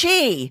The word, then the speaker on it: xi: Never mind that the letters XI is pronounced chi, and the name Xi spoken as she.